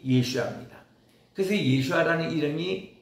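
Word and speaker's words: ישוע: 그 예슈아라는 것이 예수님의 그 히브리어 어 발음이 예슈아입니다.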